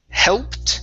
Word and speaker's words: helped: Next is All right, we have the word helped instead of helped. Okay, the ed is a T sound. Helped. Helped.